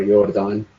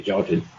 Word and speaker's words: Jordan: Jordan Community thrown or you're done that's the correct spelling of pronunciation but in English we say Jordan okay and so that